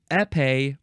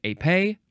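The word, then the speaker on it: épée: pronounced either epe or AE emphasize either syllable epe or AE spelled e PE e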